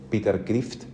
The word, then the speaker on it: Kreeft: filósofo pensador que todavía está vivo, me parece, Peter Kreeft, se escribe K R E E F T, Peter Kreeft.